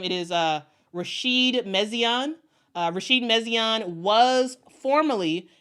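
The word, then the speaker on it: Rachid Méziane: always uh mess up on his on the pronunciation of his name it is uh Rasheed mesan uh Rasheed mesan was formerly the head coach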